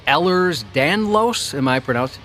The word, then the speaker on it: Ehlers-Danlos: I have a connective tissue disease called Ehlers-Danlos.